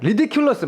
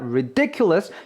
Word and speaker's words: ridiculous: 어떻게 발음 됩니까라고 해서 중간에 강세가 들어가는 거 보실 수가 있어요라는 단어 이제 평소에도 많이 쓰시는 단어고 많이 듣게 되는 단어인데 발음을 여러분들이 잘 못하실 경우가 많습니다 리디큘러스 막 이렇게 하세요 아니에요 강세가 중간에 있습니다 ridiculous 요거 잊지 마시면서 한 번만 더 들어보도록 할게요